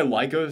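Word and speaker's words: Laika: is a super Charming film this is by Leica Studios right that's how you pronounce it yes they have mastered charm in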